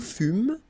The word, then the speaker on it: fûmes: Okay, then nous fûmes, final S not pronounced.